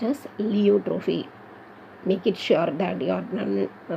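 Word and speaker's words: pleiotropy: This is லியோட்ரோஃபி. இங்கே பி சைலண்ட்ப்பா, எல்லாருமே இந்த மிஸ்டேக் பிலியோட்ரோஃபின்னு படிப்பாங்க. சைக்காலஜியில் பி சைலண்ட், ஃபிசியாலஜியில் பி சைலண்ட். அதே மாதிரி இங்கேயும் the first letter P is silent. It is pronounced as லியோட்ரோஃபி.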